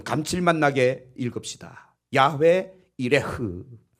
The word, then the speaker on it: 여호와 이레: 야훼 이레흐 한번 합시다. 야훼 이레흐. 좀 어렵죠? 그러나 그냥 담아두세요. 야훼 이레흐. 흐 발음을 약간 좀 거칠게 하시면 돼요.